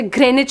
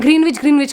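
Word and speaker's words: Greenwich: और जब मैं नई आई थी मेरे साथ ये भी हुआ था कि जैसे कुछ कुछ वर्ड साइलेंट होते, जैसे ग्रेनिच हो गया तो मैं ग्रीनविच करती रहती थी।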